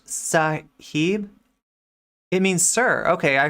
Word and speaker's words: sahib: of racism in here it is pronounced sahib it means sir okay